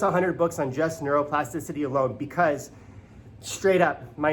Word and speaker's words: neuroplasticity: on it but it's a six syllable word that I hate to drop on you in the morning but it's science and it's amazing it's called neuro plasticity what is whew neuroplasticity